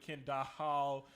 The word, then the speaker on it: Kendahl: So the H is silent, so don't come with Kendall. Don't do none of that. It's Kendall, okay? Kendall is simple.